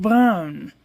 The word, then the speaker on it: Bruijn: It's pronounced brown.